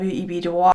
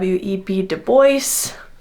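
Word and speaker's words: Du Bois: I understand now it is pronounced web deoce. My bad for not catching this sooner. I wish I had looked it up sooner. Please accept my apology in understanding that the corre the correct pronunciation is web deo based on his own desires, not our classical understanding of this spelling and pronunciation.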